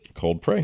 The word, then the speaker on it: Cold Prey: Cold Prey. Yes. Nice. I always remember it 'cause it rhymes with Coldplay.